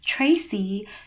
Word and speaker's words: Tracy: In the case of my name, you would get a ch sound as opposed to a t sound.